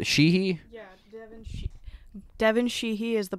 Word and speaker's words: Sheehy: Sheehy?